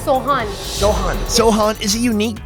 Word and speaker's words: sohan: say the name of this food again it's soan soan Sohan is a unique traditional Persian site